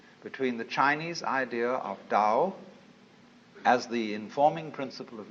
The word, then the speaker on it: Tao: the Dao ta AO pronounced Dao in the Mandarin dialect Tao in the changhai dialect